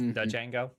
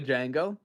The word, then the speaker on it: Django: Uh it's pronounced Django. The Django.